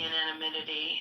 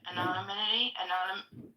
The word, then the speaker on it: anonymity: Club health gives the ananimity. So you am I saying that right? To you know how do you say it? Anonymity.